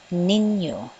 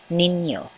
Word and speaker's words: Ninyo: Pronunciation, Ninyo. So the stress is on the first syllable, Ninyo.